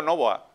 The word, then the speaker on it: Novoa: Novoa, con el acento en la O, ¿no? Sí, así es, así es. Exactamente, porque en un primer momento hay personas que le ponen el acento, digamos, más al final.